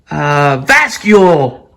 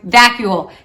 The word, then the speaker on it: vacuole: How about vascule? Okay, or vacuole. Dang it. Close. You almost got it, Mr. Cox. I was but thinking potato. You're thinking potato. We're all learning our words, so no worries. Vacuole.